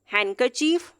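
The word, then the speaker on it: handkerchief: पर सेंड विच नहीं होगा sandwich sandwich Raj हंडकेर्चीफ please sandwich अगर दी से पहले एन लिखा हुआ तो दी हमेशा साइलेंट कंसीडर किया जाता है आई होप यहां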